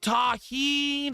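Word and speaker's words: tahini: It's pronounced taheen.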